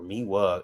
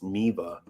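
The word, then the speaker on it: Miele: It's Miva, or Miwa. It's W in it's German, so it should be pronounced with a V instead of a W, but it's Miva.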